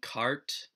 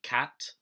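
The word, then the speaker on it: quarte: to bring up is their mispronunciation cart um it's actually cat which is french for four which is the number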